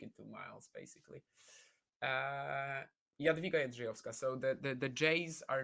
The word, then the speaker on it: Jadwiga Jędrzejowska: Jadwiga Jędrzejowska. That's how you pronounce it. There's no like J, right?